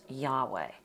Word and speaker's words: Yahweh: The name of Israel's God you see here, this is pronounced Yahweh.